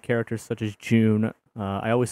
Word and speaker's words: Jun: I've also grown to like characters such as June. I always say Jun, because that's more better for me. June just sounds weird. It's like you're just saying, the month of June.